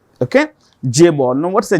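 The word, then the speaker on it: chaebol: written with a c it is pronoun with pronounced with a J okay J Ball now what's a j ball a j ball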